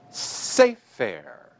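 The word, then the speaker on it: סֵפֶר: Once again, this noun is pronounced sefer. So the tonic syllable is the first syllable of the word and was so marked in the handouts.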